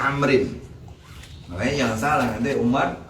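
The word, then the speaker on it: عمرو: Nah kalau ada kalimat ain, mim, ro, lalu ada waw di belakangnya, nah itu isim sorif. Dibacanya amrin.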